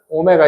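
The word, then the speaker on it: ω: 근데이 방정식에 한 허근을 오메가 이거 오메가라고 읽는다. 오메가 w 아니에요.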